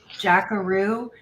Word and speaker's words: Jaqaroo: His channel name is Jackaroo. It's spelled Jaqaroo.